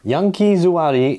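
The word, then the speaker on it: ヤンキー座り: put subtitles on this yunki zuari is how you say the Yankee squad or the delinquent Squad in Japanese in post-world War II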